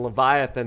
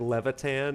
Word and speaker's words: Leviathan: of characters and so it looked like Levitan and so I called leviath and Levitan for for years was really funny he